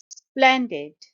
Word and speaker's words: splendid: Splendid. It's a two-syllable word and the stress is on the first syllable. Splen, splen, splendid.